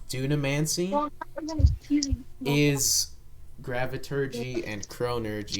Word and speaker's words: Dunamancy: forms what is called dunamancy Dam man uh I will spell it for you uh t u n a and then M ancy so Duna mancy okay and that other